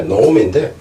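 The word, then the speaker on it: gnome: 노움. 여기서 G자가 발음이 안 나와요. N 때문에 노움인데, 땅 속에 이제 땅에 있는 실력이다.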